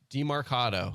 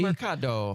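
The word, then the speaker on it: Demercado: Amari DiMercado. I think what you have to do is pronounce it in a very Italian way. DiMercado.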